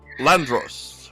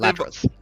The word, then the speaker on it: Ladros: Lord Jasper Landros, representative. Ladros. I added an N in that.